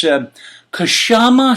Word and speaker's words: Kshama Sawant: And I happen to see this Kshama Sawant. Now, I'm not sure if it's pronounced Kshama Sawant. It's Kshama. There's no vowel between the K and the S. I'm Italian. I need vowels.